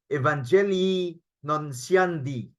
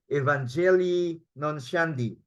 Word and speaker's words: Evangelii Nuntiandi: One of the encyclicals, one of the social documents, take note na, social documents, this is how we should pronounce it, Evangelii Nuntiandi. Okay? Evangelii Nuntiandi.